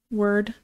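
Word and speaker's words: wyrd: you've been to also how do you say w-y-r-d word okay good that's how I've been saying it yeah word word marks word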